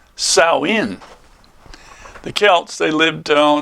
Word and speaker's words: Samhain: Well, anyway, Halloween's origins date back to the ancient Celt festival of Samhain, or that's how it looks, but it's pronounced Samhain.